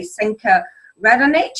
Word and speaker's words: Senka Radonich: Now, I have a really scrummy lady with me today, Senka Radonich. Have I pronounced that correctly?